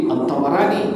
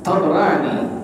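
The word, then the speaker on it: الطبراني: Tadi At-Tabarani, bukan Tabarani. Jadi dibacanya Al-Imam At-Tabarani. Tahu dari mana? Itu bit-talaqqi, dari guru-guru di atas kita tuh mengatakan At-Tabarani, At-Tabarani. Ini hadis riwayat daripada Al-Imam At-Tabarani.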